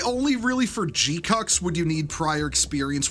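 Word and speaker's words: GQuuuuuuX: It's pronounced G-cucks.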